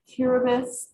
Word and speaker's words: Kiribati: day um and then tiribus is pronounced with an s and any time you